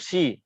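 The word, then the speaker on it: し: Si itu kalau teman-teman mau menulis dengan huruf romaji atau alfabet ya, itu tuh bacanya shi ya, SHI. Jadi bacanya bukan si, tapi shi.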